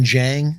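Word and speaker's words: Dieng: boards uh is uh uzman jang uh it's pronounced but a j even though it's a d-i-e-n-g yeah uh people are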